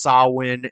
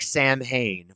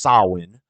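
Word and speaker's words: Samhain: it sounds it's pronounced sawin it's spelled s a m h a i n so it's spelled like Sam Hayne but it's pronounced sawin and that was a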